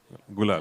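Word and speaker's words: Gulaal: Gulal. Gul. Gulal.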